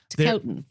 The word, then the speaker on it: Ticotin: Ticketin. Let's call it that. Ticotin.